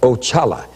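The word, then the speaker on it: Oxalá: Now, that was the first one I met, and that's spelled O-X-A-L-A, and it's pronounced Ochala, and he is the head of all spirits.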